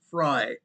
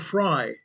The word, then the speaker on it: Frey: Mr. Frey, RF fy is his name. He pronounces it Fry. Mr. Fry, the mayor of Minneapolis and Governor Waltz, guess what?